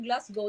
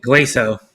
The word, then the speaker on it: Glasgow: Why I put you Glasgow? That is part of Scotland, the Glasgow. Glaso. No. Glasgow. Ah, you pronounce it Glaso.